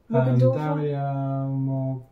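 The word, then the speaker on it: Morgendorffer: I can't remember how you pronounce her surname. Like, Morgan... Dorfer? Morgendorfer, yeah.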